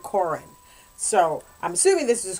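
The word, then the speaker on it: Corrin: But then I have a character that's C-O-R-R-I-N, and I spell it Corin. I mean, I pronounce it Corin.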